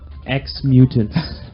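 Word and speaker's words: Ex-Mutants: X Mutants. Right, I'll take from that. It's spelled EX.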